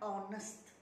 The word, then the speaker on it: honest: Contohnya honest. Sebutannya oh, bukan ho.